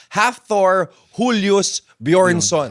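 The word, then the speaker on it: Hafþór Júlíus Björnsson: But uh rinesearch ko na rin iyung pronunciation. Half Thor, Julius Bjornson.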